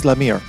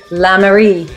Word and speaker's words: Lamere: sorry and uh lemire uh i hope i'm pronouncing your names correctly close enough closer i'm actually la marie marie fantastic fantastic and hello